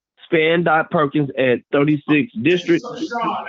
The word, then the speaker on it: Sean: So Sean, it's pronounced Sean, S-E-A-N, period, Oh.